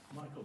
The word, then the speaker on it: Michael: Our second case on the docket is it pronounced Michelle or Michael? Michael, Your Honor.